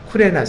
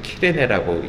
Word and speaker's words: 키레네: 몇몇 이 키포로스 사람과 쿠레네 사람 지금의 키레네라고 읽죠.